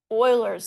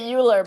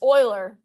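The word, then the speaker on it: Euler: Oilers's number. Everyone wants to say Uler, but it's Oiler.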